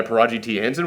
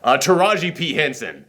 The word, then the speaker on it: Taraji P. Henson: by this head algorithm called Yes, played by Taraji T. Henson, which, man, that did not sound like Taraji T. Henson. Am I pronouncing her name correctly?